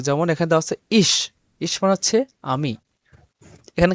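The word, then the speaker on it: ich: স নরম বাতাস ছেড়ে স উচ্চারণ হবে। যেমন এখানে দেওয়া আছে ইশ।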